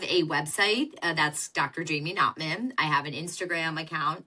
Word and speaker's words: Knopman: And it's Knopman, Knopman, y'all. Knopman, correct. Spell it for you people who are listening, which I think is fascinating.